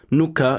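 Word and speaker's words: 糠: And so the result of this technology, the leftovers is white and rice, and the character for bran, nuka, is made up of rice and health.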